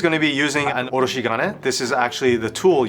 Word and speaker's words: oroshigane: Gabi is going to be using an oroshigane. This is actually the tool used to grate radishes down into a smooth consistency. Oroshigani. Chef Taka can definitely help brush out my pronunciation on that. Oroshigane.